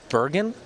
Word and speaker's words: Bergen: It's pronounced Bergen? Yes. Oh, man.